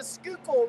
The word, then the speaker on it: Schuylkill: appreciate it man uh this is the skookle river it's uh I had it in the last description but I had to restart it so it's spelled real funny but it's s c